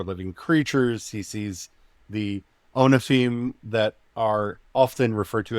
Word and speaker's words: ophanim: It's ophanim wheels. I often. Get my consonant mixed up in there.